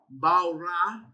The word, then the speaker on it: bara: So, they've got it written in English, pronounced for us, meaning this is how you actually say it, bara, and even if you